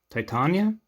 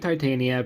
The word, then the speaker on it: Titania: Titania? I've heard both pronunciations, so I'll go with Titania.